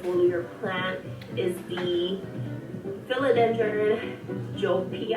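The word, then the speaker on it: Joepii: plant is the filad jopi I think that's how you pronounce it ji it's the j o e p i i the Joe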